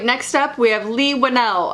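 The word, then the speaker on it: Leigh Whannell: we have lee winnell i finally learned how to pronounce his name i'm sorry lee one l that i have never gotten it right until this day for the record i used to pronounce it lee wanna so you can laugh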